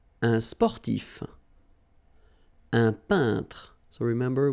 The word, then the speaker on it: peintre: So remember when you get this E-I-N together here, then you pronounce this un sound. So nasal in your nose, un peintre. All right? And remember, final here is not pronounced. It only gives you the possibility to pronounce these two letters. So tr, tr, okay? Un peintre.